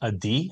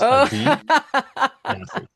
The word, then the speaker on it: Adi: So the first name is actually pronounced a D. Like pretend I know you had never have, but pretend you got a really bad grade on the test. So it's a D.